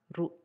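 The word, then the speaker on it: ル: Katakana ru, pronounced as ru, ru, ru.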